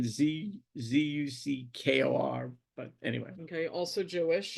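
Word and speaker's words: Zukor: You had Paramount, which was Adolf Zucker. It's an interesting pronunciation, Zuckor, but anyway.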